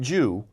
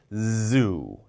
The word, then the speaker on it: zoo: When you pronounce Z, zoo. Not Jew, zoo.